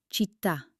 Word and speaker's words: città: It tells you to hit that last syllable with extra energy. Let's try some common words where the accent is king. Repeat after me. Caffè. Città.